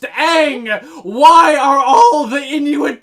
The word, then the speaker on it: Aang: they call him Anya his name is not pronounced on and is pronounced Aang why are all the